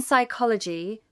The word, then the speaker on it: psychology: In psychology, the p is silent.